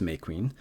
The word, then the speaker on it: Mequin: Oh, it's actually pronounced May Queen, shortened from the Hea May Queen, illustrious queen, and